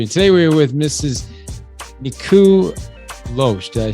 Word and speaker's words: Nikou: today we're with mrs niku losh did i say it right oh first name is niku just think of my knee i'm a little cuckoo